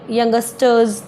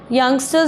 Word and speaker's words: youngsters: youngster was very wrong she was saying youngesters this is not good youngsters is the right word to pronunciate and with the help